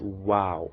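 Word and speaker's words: واو: The 27th one, which is this, it's called wow. So form a wow shape, a circle with our lips. Wow, wow, as in water, water.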